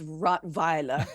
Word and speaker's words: Rottweiler: Savage Trump rot vior I like how you pronounce rot vior it's very German um it's the correct pronunciation he he can't he